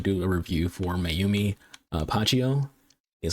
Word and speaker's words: Pacheco: But again, the main show, we're trying to do a review for Mayumi Pacheco. That's how you pronounce her last name, the Filipina.